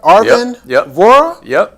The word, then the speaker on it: Arvin Vohra: Arvin Vohra?